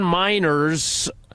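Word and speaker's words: Meinerz: Denver Broncos team website Quinn Miners pronounces his name miners miners not miners like children not that not coal mining miners no that is what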